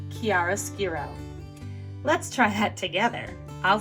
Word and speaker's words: chiaroscuro: correctly you will impress anybody this word is pronounced chiaroscuro let's try that together i'll say it and